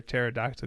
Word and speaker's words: pterodactyl: pterodactyl one the best why can't you hear a pterodactyl go to the bathroom because the P is silent good stuff alright so